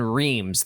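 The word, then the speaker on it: Reims: soft in French normally so the S would be silent um probably Clem um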